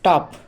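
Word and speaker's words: tough: টাফ টাফ মানে কঠিন এক্ষেত্রে জি এইচ এর উচ্চারণটা হলো কিন্তু ফয় এর মত তাহলে দেখো কফ সি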